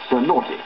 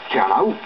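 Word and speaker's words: Cernăuți: on it so i took a chance and pronounced it so naughty but when ellen howland came to relieve me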